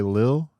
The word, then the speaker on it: Lil: So you just took the second L off, but when you pronounce it, It's Lil. you intention just Lil. Like Lil. Like it's Lil. You feel me? The L just ain't there.